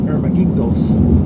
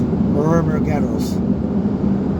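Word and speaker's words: Hormigueros: I used to call it Ermaguindos, but it's Ormagueros, and it's the number 2 highway.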